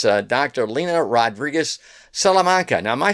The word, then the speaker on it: Rodriguez Salamanca: Lena Rodriguez Salamanca. Now, am I saying that, Doctor? Am I saying that right? Yes, yeah. Oh, okay. Rodriguez Salamanca. Yeah, my pronunciations are not too good sometimes.